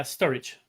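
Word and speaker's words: Storj: you build things at store j right yeah storage so that's that's how it's pronounced yes yeah that's the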